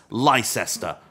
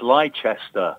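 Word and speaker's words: Leicester: most importantly he knows how to pronounce Lester we welcome back to the Pod Aro white hello chaps it's liester I know you have no idea how many people say to me it is leester right leester and I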